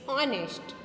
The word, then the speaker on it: honest: Here H is silent. How we pronounce it? An honest man. So we pronounce O, not H. We not saying that H honest. It's honest.